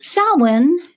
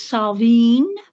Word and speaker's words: Samhain: So Samhain, and that is how it's pronounced, unless you are speaking Scots Gaelic, which is, in that case, I think it is Samhain.